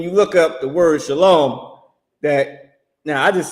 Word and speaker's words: Shalom: He got Sha, S-H-A, then he got Lo, L-O, and then M. He don't got Shalawon. He don't got S-H-A-L-A-W-O-M. He got Shalom, and then with an M. So the oppressor is pronouncing the word correctly, and fake Israelites are pronouncing it wrong because you didn't learn under commanding General YAHANNA.